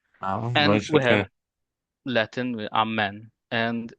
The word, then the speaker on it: Amen: like the Orthodox, but we say Amen like the Latin. I mean, curious, not exactly curious because of the history, but it's curious that we don't say it like them, like the Latin or like the Orthodox, because the Orthodox they say Amin as well.